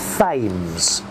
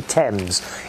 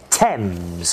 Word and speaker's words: Thames: river it's not called fames a lot of americans think uh thinks it's called fames it's actually thames you don't pronounce the h thames okay repeat after me